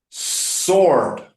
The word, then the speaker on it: sword: Sword.